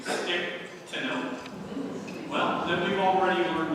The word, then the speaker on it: Stichtenoth: If you, like me, were not aware that they pronounced her name Stichtenoth, well, then we've already learned one thing we can.